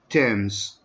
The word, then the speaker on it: Thames: It's lie on the River Thames. Listen to how I pronounce that. Thames.